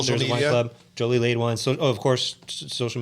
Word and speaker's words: Jolie-Laide: club, Jolie-Laide Wines.